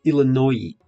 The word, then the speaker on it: Illinois: no, it's spelled like this. Illinois. No, говорим Illinois.